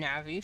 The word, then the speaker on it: Na'vi: I still think that I It's funny that the names are Nav'i for navigator. You pronounce it any other way, you're wrong. I was wrong for the first 10 years of my life because I pronounced it wrong like a silly boy. But to be fair, I didn't I didn't know how it was pronounced. I called her Na'vi for the longest time and it's like that's